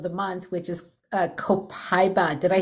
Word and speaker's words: copaiba: $12.95 oil of the month, which is a copaiba.